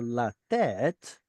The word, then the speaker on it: לתת: We can't put a stress syllable next to a stress syllable. So they moved it over to here so that it flows better, like William mentioned.